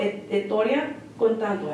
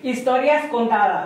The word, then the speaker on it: Historias Contadas: So right now it's called Historia Contando. Did I say it correctly? Historias Contadas.